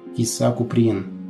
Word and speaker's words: Кисса Куприн: Псевдонимом Ксения взяла домашнее прозвище, чуть поменяв его на французский манер – Киса Куприн, с ударением на последние слоги.